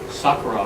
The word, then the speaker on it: Sakura: My name is Sakura, but I amongst Japanese, I'll pronounce it the Japanese way, which is Sakura. I'm Sakura, which means cherry blossom.